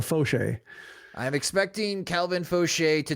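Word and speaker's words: Faucher: like a baseball reference, the first syllable is capitalized, so Fauché.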